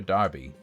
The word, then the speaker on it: Derby: the cup is it Derby or Darby when is when is d-e-r-b-y Derby sometimes it's Darby sometimes it's not Derby Darby Derby okay it's an American versus English pronunciation thing I understand Darby has